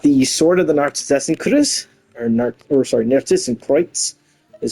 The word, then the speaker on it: Narcissus Kreuz: We got the Sword of the Narcissus Narcissus Kreuz, is how it's supposed to be pronounced.